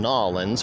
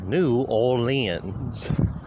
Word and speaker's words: New Orleans: By the way, I'm only saying Nolans for those of you out there who seem to think that that is how us from Louisiana pronounce it. We do indeed pronounce it New Orleans.